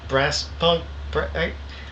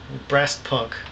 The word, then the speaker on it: Brassft Punk: I guess I've just kind of been either saying brass punk, probably silent F. I think maybe brass punk.